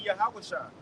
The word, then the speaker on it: Yahawashi: Moses him and Yahawashi know how to say his name in Hebrew it will be Yahawashi and him and our